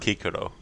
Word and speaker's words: Cicero: what is your problem and Cicero was pronounced kikoro ah I didn't actually know